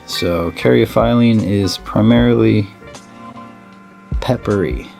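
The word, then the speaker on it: caryophyllene: almost everything you buy carry a filing or paraphylene or however you want to say it i say it carry a phylem because of how it's said or how it's spelt and how they how they worded out in the dictionary so caryophiline is primarily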